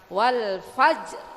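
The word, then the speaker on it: والفجر: walfajr ya Bu ya rnya dibaca tarkik walfajr ya Bu ya walin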